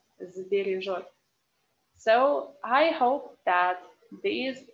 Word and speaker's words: сбережёт: That's why this S that we pronounce without voice should be transformed to z, yeah? So you cannot say сбережёт. Well, maybe you can say, but better to say сбережёт, сбережёт.